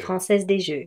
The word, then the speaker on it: Française des Jeux: Française des Jeux.